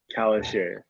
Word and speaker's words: Calisher: Calisher? Kalisher.